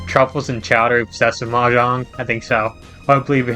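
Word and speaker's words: mahjong: You are a major pronounced like ma jang.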